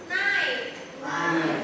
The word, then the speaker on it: knife: And in English we call knife. Jadi K-nya itu tidak dibaca, jadi hanya knife.